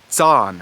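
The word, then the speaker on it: zan: west germanic languages however in old high german it does go to that ts sound and it's spelled with a z zaan for example that is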